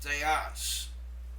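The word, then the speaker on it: θεός: And this is pronounced theos. Theos. Did you hear me pronounce the second syllable with emphasis?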